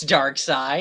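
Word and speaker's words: Darkseid: dark dark side curtsey wait is it dark side I think it's dark side it's spelled like seed it's so like a German word made yeah okay sure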